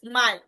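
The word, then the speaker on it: Mai: ঠিক আছে এরপরে হচ্ছে যে মেয়েকে বলা হয় মাই সহজ অনেক সহজ মেয়ে থেকে মাই আমার মাই মানে ইংলিশের মাই মানে হচ্ছে আমার ওটাতে মনে রাখতে পারেন মে মাসকে বলা হয় মাই জুন যেটা জুনকে বলা হয় ইউনি দেখেন জুনকে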